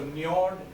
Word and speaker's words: Njord: So if you have heard of fjord, which is which are the the water backwaters which come in into. So Njord is a similar pronunciation